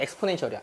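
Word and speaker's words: exponential: 익스포넨셜이라고 읽어요. 실제로 영어 표현은 엑스포넨셜이야. 엑스포넨셜.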